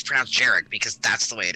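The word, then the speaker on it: Jhereg: like book three and apparently you pronounced that word something like girag which okay fine except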